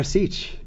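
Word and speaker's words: Asik: Is there a pronunciation course? You got Asic. I was really impressed by that. Omer Asic.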